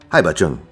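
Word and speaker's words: Hai Bà Trưng: In Vietnamese, the phrase Trunk Sisters is something close to Hai Ba Chung. As far as my ears could tell, it almost sounded like a CH sound.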